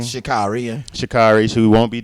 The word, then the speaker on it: Sha'Carri: Is that how you pronounce her name? Sha'Carri, yeah.